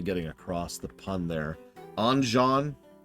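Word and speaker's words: Anjean: across the pun there anjan say his name a little bit differently it sounds like engin I had a premonition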